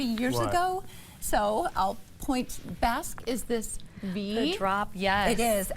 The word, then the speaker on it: Basque: Am I pronouncing that correctly? You are. It is Basque.